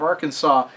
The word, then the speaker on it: Arkansas: has that problem because nobody says Aransas everybody seems to know that S at the end of Arkansas isn't supposed to be pronounced but I guess a lot of people didn't get the memo for Illinois anyway second question how